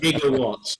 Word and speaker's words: gigawatts: about the fact that a gigawatts it's a hard g okay yeah we don't